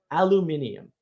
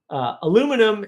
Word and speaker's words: aluminium: up the history of the word aluminium and the inability of the United States to say it correctly. Aluminum is not the way you say that word.